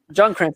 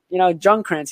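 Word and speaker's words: Ljungkrantz: That name is going to be, it's spelled with an L, but it's a Jung. It's Junkrantz. Anyway, I give you credit for that. I mean, I've been honestly not going to lie. I've been practicing trying to pronounce these because, Junkrantz, it's a silent L.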